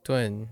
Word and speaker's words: 盾: You better remember this character by noting that its pronunciation is dun, is nearly the same as meaning ton.